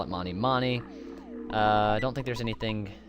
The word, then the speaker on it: Mani Mani: I pronounce it Mani Mani, by the way. Some people say Manny Manny, but I'm gonna go ahead and call it Mani Mani.